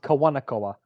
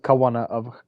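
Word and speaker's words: Kawānanakoa: Oh, the House of Kawanakoa. It's the House of Kawanaakoa.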